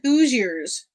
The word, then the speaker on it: Hoosiers: It kind of rhymes with Hooters, but it's not that. There's no T in it. DK, that is correct. It's called Hoosiers.